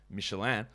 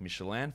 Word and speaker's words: Michelin: So that is why I would say Michelin, like Michelin for the Michelin guide, the Michelin stars, because it's a French company and that is how the name is pronounced.